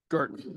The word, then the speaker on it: Girton: Like Curtin, but with a G. Girton. Okay, Girton.